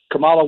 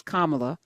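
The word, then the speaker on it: Kamala: two couple things um Camala wanted to give no no no no no it's kamla so we're gonna be respectful can you say her name properly yeah yeah can you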